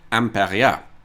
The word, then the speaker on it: Imperia: was home of the famous Belgian car company Imperia, or as the locals pronounce it, Impéria. And if you’ve never heard of Imperia, that’s probably because they went bust in 1958.